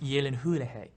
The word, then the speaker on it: Gyllenhaal: it pronounced Gyllenhaal Yeah. or Gyllenhaal? It's pronounced Gyllenhaal.